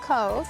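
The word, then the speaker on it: Cobh: You pronounce it Cove. Pronounce Cove.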